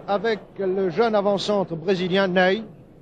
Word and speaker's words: Nenê: le jeune avant-centre brésilien nenê cela s'écrit comme notre maréchal ney mais ça se prononce n'est il pas voici sur votre écran